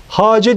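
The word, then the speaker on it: خواجه: Farsça kelimelerde h harfinden sonra yazılan vav harfleri yazıldıkları halde okunmazlar. Aslı böyle yazılır. Bu şekilde hace diye okunur.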